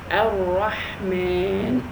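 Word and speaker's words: الرحمن: Okay, the Ha is not in many other languages, so we need to practice more.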